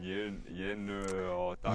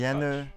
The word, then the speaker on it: Jenő Takács: Wie spricht man diesen Jenő Takács? Jenő Takács.